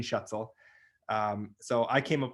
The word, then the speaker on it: Schuetzle: everyone you know um my name is shuttle uh it's a very good German last name I was the first one in my family you know obviously everyone would always have trouble saying shuttle um so I came up with the saying